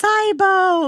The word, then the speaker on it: SIBO: Um, I say like sibo and people are like, it's cybo.